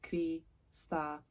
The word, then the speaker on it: Cristallina: Just think of it in sections, so Cristallina and then. Sounds like spaghetti.